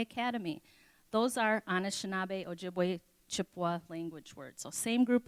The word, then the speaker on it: Chippewa: group of people so this Chippewa is a mispronouncing mispronunciation of Ojibwe and anishinabe is what